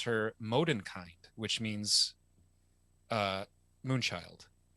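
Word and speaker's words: Mondenkind: language Bastian names her moden kind which means uh moonchild now modern kind has three syllables whereas moonchild only has two instead of filming two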